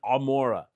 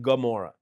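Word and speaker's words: עמורה: We usually say so and Amora which became Gamora because of the guttural iron.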